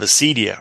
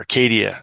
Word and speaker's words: acedia: Going back further in the Catholic Orthodox tradition, the concept of acedia or acadia, it's sometimes pronounced, that Evagrius talks about, which is, really trying to understand it as a spiritual malaise.